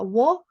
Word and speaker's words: を: Then use the object indicator wo here. Pronunciation can be o or wo. When you speak natural speed, it sounds like just o.